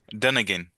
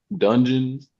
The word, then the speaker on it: Dunigan: Dunigan. Yeah, you did. Yeah, but I've had people say dungeons. I'm like, there's no OE in there.